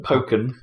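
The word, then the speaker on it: Pokkén: different game weird monster poken is apparently the official way to pronounce it Pok it doesn't even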